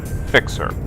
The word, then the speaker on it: Phicksur: I pronounce my name fixer I know it's spelled with a p but p with an H next to it is pronounced like an F in the English language now as you can